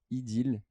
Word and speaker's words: Ideel: Ideal. Alors attention, ça s'écrit IDEEL.